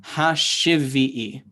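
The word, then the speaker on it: השביעי: You put the lamed there, that shiva at the under the lamed ends the ha syllable, and then shivi is the second syllable, and I is the last syllable. So hashivi'i is how that works.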